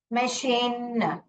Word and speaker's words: machine: इसको मैकीन भी नहीं पढ़ते हैं, मैचीन भी नहीं पढ़ते हैं, correct. We read it एज मशीन।